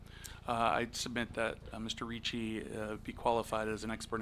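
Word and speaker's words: Ricci: My name is Reichi. Last name is spelled R I CCI. like Christina Christina Richi, right? Same pronunciation, not related.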